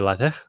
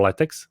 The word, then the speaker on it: LaTeX: need some structure representation one would be later or latex depending how you pronounce it uh that we